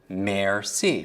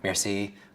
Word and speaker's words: merci: Merci, right? Merci. Now, what do you picture? Merci. What can you picture for merci? Just break it down into syllables. Mare.